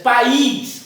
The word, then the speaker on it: país: Se você dissesse país, aí era outra coisa. País, aí o I passaria a ter uma tonalidade forte.